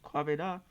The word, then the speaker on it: Kwabena: He said, "Kwabena, that's my name, Kwabena. That's how you say it, Kwabena."